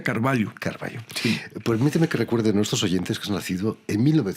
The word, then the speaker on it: Carvalho: No es cierto lhu pero como es portugués la lh se lee ella Entonces se pronuncia Carballo sí recuerden nuestros oyentes